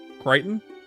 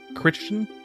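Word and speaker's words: Crichton: Do you not know that that's how his name is pronounced? Kryton. You thought that was Christian or something?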